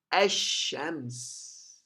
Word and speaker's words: الشمس: lamb is prohibited so the lamb will not be pronouncing and you find the Sheen a pronounce it first letter the first sound of the Xin is pronouncing with sukoon but the second should sound of the Xin is pronounce it with Fatah so if you go